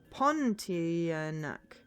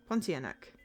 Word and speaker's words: Pontianak: Oh, silent R in pawn. Pontianak. Pontianak.